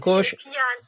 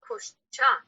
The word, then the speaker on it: kosha: Vigyan Kosh. Piana kosha. Piana kosha. Kosha. Yes. Not kosh. It depends. Some people say kosh or kosha. Kirpal Singh call it kosh. It depends how you pronounce it.